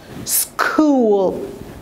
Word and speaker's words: school: we just pronounce the s and the don't pronounce the h here so it's going to be school very easy word all of you go to